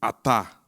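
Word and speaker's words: חטא: O seu equivalente verbo chatá pronuncia-se atá, com H aspirado.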